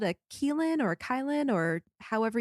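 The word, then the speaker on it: Qilin: It's called a Keylin or a Kylin, or however you pronounce that. I'm sorry. It's Kylin.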